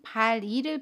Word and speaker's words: 발이: 우리 이번에는 발이를 볼게요. 발의 받침 리을과 모음 이가 만납니다. 그러면 받침 리을이 이응 자리로 가서 발이 라고 발음해요. 연음입니다.